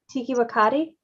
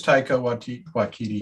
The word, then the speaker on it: Taika Waititi: Tiki Wakati? I always thought it was Taika Waititi. Oh, I am most likely Waititi. mispronouncing it. Taika It Waititi. is Taika Waititi.